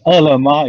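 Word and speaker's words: Ele.me: We also have this, there's no choice I to pronounce it in Chinese. Elema is called ELEME, right?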